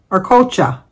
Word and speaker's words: Arcocha: But we have an anniversary today, because today is Joni and Juan's, I know she told me one time how to pronounce it. Arcocha.